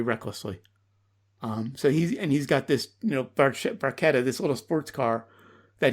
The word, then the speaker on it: barchetta: On to track 2, Red Barchetta.